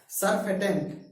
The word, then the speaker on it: surfactant: ठीक है, सरफेटेंट। ठीक है ना, यहाँ पे सी साइलेंट कर देंगे, SURFACTANT।